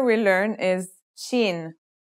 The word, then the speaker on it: shin: letter we learn is Sheen this one is pronounced just like the English in the word shovel this one is very